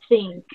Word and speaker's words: think: Think. Como si dijera con la S, pero no totalmente con la S, sino como un sonido de Z, think.